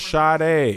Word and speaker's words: Sade: sorry but you saying shoddy yes that's how there's no H in her name but it's pronounced Sharda you thought she was